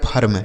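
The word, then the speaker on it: firm: ठीक है, यप ई आर एम, यप से हो गया फ, ई का उच्चारण आ, आर से र और यम से म, लिखा गया फर्म।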